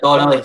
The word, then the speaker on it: Donnelly: I really like, is it O'Donnell? Is that how you pronounce it? It's O'Donnell, is that? Or Donnelly? How do you pronounce it? Donnelly. Sorry. Donnelly.